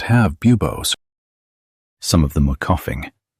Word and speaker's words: bubos: These lumps are called bubos. Listen to the pronunciation. Bubos. Bubos. This is where the name bubanic comes from.